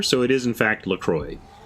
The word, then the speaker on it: LaCroix: excuse me that's pronounced law but Lacroix is actually a combination of the places La Crosse Wisconsin and the st. Croix River so it is in fact Lacroix it's just that Wisconsin's